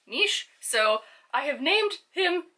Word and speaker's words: Nis: Also, a fun fact, because I'm now overly brimming with Scottish fun facts, is that Loch Ness and Inverness, actually in the traditional Gaelic, is pronounced Nish, so I have named him Nishi.